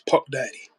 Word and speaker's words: Puck Daddy: Fuck, you could say Fuck Daddy, but it's Puck Daddy.